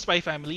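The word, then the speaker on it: Spy × Family: Anyway, if you're looking for a new manga, Spy Family, it's Spy Oh, yeah. X Family, but it's just pronounced Spy Family, like Hunter x Hunter.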